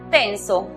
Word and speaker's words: tense: Con la palabra tenso, que se escribe, vemos que hay E muda al final, precedida de dos consonantes. La vocal que queda toma su sonido cerrado. Entonces la pronunciación es TENS.